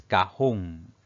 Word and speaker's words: cajón: Aquí si dividimos esta palabra en sílabas, pues tenemos 2 sílabas. La mayor fuerza de voz recae en la última sílaba, por lo tanto es una palabra aguda y lleva tilde porque termina en N.